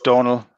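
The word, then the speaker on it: Dónal: Gibson, just so you know, that's Donal. Over here in Ireland, we pronounce it Donal with the O-fada, just as a correction for you.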